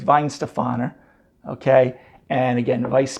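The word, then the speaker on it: Weihenstephaner: it isn't isn't pronounced wine Stefan or it's Vine Stefano okay and again of ice beer now as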